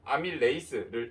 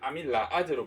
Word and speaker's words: 아밀레이스: 이거를 에이스라고 읽기도 하고 이제 옛날 독일이나 일본 출신은 아제라고 읽으셨을 거예요. 그래서 아밀레이스를 아밀라아제로 표기한 책도 아직 남아 있다.